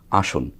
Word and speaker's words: আসন: সব বাংলা স তালবসর যে উচ্চারণটা আমরা করে থাকি সেটি যেমন ধরেন আসন আসন শব্দটি বাংলা এটি কোনভাবেই তালবস ব্যতীত অন্য কোন উচ্চারণ আর করা সম্ভব না। এটি আমরা অনেকেই বলে থাকি যদি দন্তেস্য হয় এস এর মত উচ্চারণ। এখানে কিন্তু দন্তেস কিন্তু আমরা আসন বলছি না। আসন বলছি।